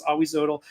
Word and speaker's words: Ahuizotl: He was like, no, you're pronouncing... I used to call Ahuizotl Ahuizotl. He was like, no, it's Ahuizotl.